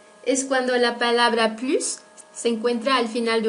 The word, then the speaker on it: plus: Tampoco pronunciamos la S de la palabra plus cuando esta aparece en una negación. Par exemple, tu veux encore du coca? Non, je n'en veux plus.